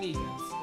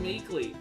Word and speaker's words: Meekins: Oh, I was the one saying Meekins. Okay. That poor little doggy. Poor guy. I keep getting his name wrong, calling him Meekly. Other times I call him Miku.